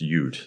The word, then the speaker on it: Utt: I assume that your last name is pronounced Utt, but it's just straight up Utt, huh? Utt, yeah.